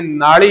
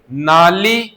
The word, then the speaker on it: नाली: हमने उच्चारण ल नहीं किया, उच्चारण तो शुद्ध क्या होना चाहिए? नाली, गाली और कालू।